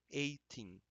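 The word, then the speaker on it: eighteen: Esse G e H, ele não é pronunciado, ok? 18, 18, 19 e 20.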